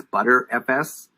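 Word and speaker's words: Btrfs: here is bt rfs as people pronounce it as butter fs and they store information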